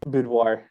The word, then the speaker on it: boudoir: want to do some, how you pronounce that? Boudoir? Boudoir.